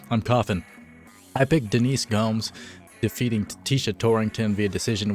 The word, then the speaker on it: Gomes: And I say it like Gomes. I think it's Gomes, right? If there's a Z, it's Gomez because it's Mexican. If there's an S, it's Gomes because it's Brasil.